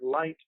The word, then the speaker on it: light: life and that's why the word light has a silent gh in it normally when gh is